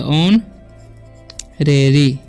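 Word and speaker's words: honorary: अब इसे पढ़ते हैं ऑनरेरी, ठीक है। यहाँ पर जो है एच साइलेंट है तो ऑनरेरी, ओके।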